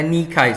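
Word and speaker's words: Nike: jadi Dewi kemenangan Yunani adalah nikai bacanya nikai saudara sor nama rudal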